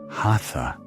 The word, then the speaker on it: hatha: The word hatha is a meeting. Sun on the right, moon on the left. Ha and tha. Two syllables, two luminaries, not poses, not stretching.